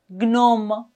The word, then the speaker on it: gnome: Dans ces mots, GN se prononce GN. GN. GN. Comme par exemple, gnome, gnose, gnou, magnum, diagnostic, stagnant, cognitif.